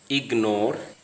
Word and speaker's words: ignore: But in the following words, G is pronounced ignore, signature, because the G and N are part of two different syllables. They are not part of the same syllable.